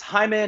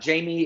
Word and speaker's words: Jaime: Sir, I don't know what you were talking about, but Uh, my on Instagram you can find me as it's Jaime, not Jamie 83.